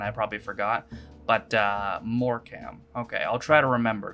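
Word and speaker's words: Morecambe: or another we're gonna get it done your pronunciation made me giggle a bit it's more cam not more cambay although i don't blame you a website's having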